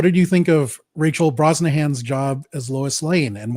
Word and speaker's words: Brosnahan: Marcus, what did you think of Rachel Brosnahan's job as Lois Lane, and why do I keep wanting to pronounce her name as Bro Shannon?